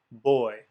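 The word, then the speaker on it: בּוֹי: A combination of holum, vav, and yod, or holum, yod, would be oi, as in boy. And in fact, that's exactly how you would pronounce the Hebrew syllable above, boy.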